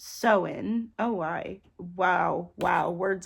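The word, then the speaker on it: Samhain: night of the year saman s so oh wow pronounced soen oh why Wow Wow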